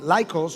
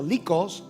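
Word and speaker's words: Lycus: un valle el valle de laicos o licos si lo pronunciamos en español Ah con dos otras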